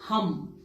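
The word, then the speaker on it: हं: उच्चारण कर सकते हैं थ्रोट के लिए आप हम एच यू एम हम मंत्र उच्चारण कर सकते हैं क्राउन के लिए आप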